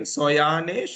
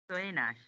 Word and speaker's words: Soyanash: How do you pronounce your name? Soyanesh or Soyanash? Soyanash.